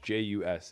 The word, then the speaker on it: Tejas: Tay-Jus is the pronunciation.